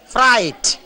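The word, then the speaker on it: Freud: സെക്സ് ഇസ് the highest form of energy എന്നാണ് ഫ്രോയിഡ് പറഞ്ഞിരിക്കുന്നത്. കേട്ടിട്ടില്ലേ ഫ്രോയിഡ്? ശരിയായ ഉച്ചാരണം ഫ്രൈറ്റ്.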